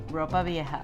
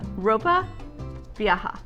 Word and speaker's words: ropa vieja: robot I have not got it yeah rope ropa vieja ropa vieja I can't even say it I can't wait